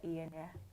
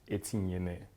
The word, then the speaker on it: Inyene: The full pronunciation is Inyene. Inyene. Inyene.